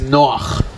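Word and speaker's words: נח: Because the name that you say as Noah is Noach. That's that's how you pronounce the guy from the Bible with the flood.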